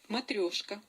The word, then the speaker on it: Matryoshka: Let's listen to the proper pronunciation of that word. Matryoshka.